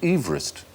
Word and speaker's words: Everest: No, we shouldn't call it Mount Everest because he didn't pronounce his name Everest. He pronounced it Everest.